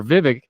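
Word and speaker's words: Vivek: is 50% plus remember Vivic rhymes with fake is in this race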